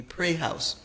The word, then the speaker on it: praise house: Praise house, the proper pronunciation would be pray house.